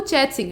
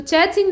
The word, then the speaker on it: चेत सिंह: यहाँ पे जो राजा का नाम है वो चैत सिंह है, ठीक है। तो चैत सिंह नाम के या चेत सिंह नाम के जो राजा थे, असल में ये चेत सिंह थे और चेत की स्पेलिंग